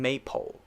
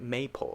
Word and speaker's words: maple: or maple now notice i'm not saying maypole right maple or maple maple like that it's pretty relaxed and not stressed maple maple the next